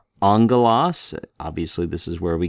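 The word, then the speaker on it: ἄγγελος: you have two gamas together in Greek it's pronounced like an NG so this is angalo Angelas obviously this is where we get our English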